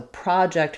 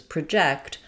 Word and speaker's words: project: Um for example we have the word um project the noun. The rhythm is stressed on the first syllable. So, we have the a sound here, but if I'm going to project my voice, the spelling is the same, but now our stress falls on the jack syllable. And we have the h sound here. So, project versus project.